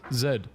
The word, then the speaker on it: zed: she's Canadian in Canada they don't pronounce the Z as Z they pronounce it as Zed and that is crazy